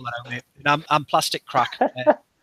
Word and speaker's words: Craic: I'm Plastic Crack. Crack like Irish crack, CRAIC.